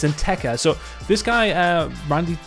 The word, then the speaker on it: Nteka: instead on an attacker i've been calling him in ketter but it's in tekker so this guy uh